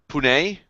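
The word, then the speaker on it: Poone: Wait, so her last name is Poon, P-O-O-N? P-O-O-N-E, I believe. Janice Poon. Pune? Yes, it's a bit odd, but The E is silent.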